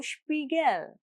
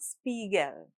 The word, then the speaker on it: Spiegel: German SP at the start of a word is pronounced Sp, so Spiegel, not Spiegel.